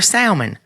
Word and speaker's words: salmon: it salmon salmon that just sounds weird or salmon it's salmon and salmonella poison okay anyway I